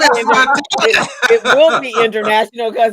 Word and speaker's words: Martile: I said Martile. Oh, it's Martile, but you know what? It's because my dad's Italian and then he immigrated to Canada. It's Martile.